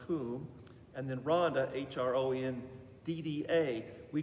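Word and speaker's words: Cwm: is called kumaranda it's spelled c-w-n but it's pronounced kum and then rhonda h-r-o-n-d-d-a we call it rhonda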